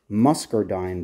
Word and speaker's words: muscardine: promotes is called White muscardine disease hopefully that came out clear sounds like mus Adine but there's an r in it I'm not saying it wrong and this particular fungi